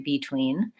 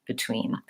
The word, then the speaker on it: between: be able to say between the main and most important element is that your tween is long and clear and your first syllable is short and reduced so if I say between vs.